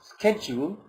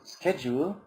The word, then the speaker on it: schedule: By the way, many people pronounce schedule the British. Okay, a typical British pronounces schedule like schedule. All right. So some people pronounce it. Okay, so some people pronounce it schedule, all right, and others pronounce it schedule, all right. Of course, both pronunciations are correct.